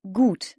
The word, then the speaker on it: gut: gâteau par exemple bon bien en allemand se dit gû ça s'écrit gut t gû bon bien good